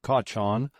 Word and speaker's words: cochon: "He's behaved like a perfect pig," she said gruffly, pronouncing the word Kachan as though she referred to Joan of Arc's contemporary, Bishop Kachan.